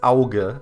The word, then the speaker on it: Auge: Okay, so it's pronounced Auge.